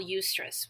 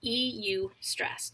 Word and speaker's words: eustress: But there's also something we call eustress, which is spelled EU stress, eustress, which is actually a positive form of stress.